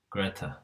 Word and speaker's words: Grete: Now Gregor's sister, I think rather than Grit, I think you pronounce Grete. Greta.